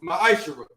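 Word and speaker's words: מעשר: It means 10th in Hebrew and is pronounced ma'ashara.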